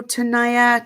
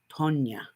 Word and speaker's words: Tania: it all in hello Tanaya to Tania I cannot pronounce your name my husband told me the other day it's pronounced Tonya I I guess I